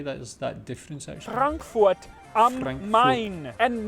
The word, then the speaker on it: Frankfurt am Main: Frankfurt am Main. And not pronounced Frankfurt on the Main.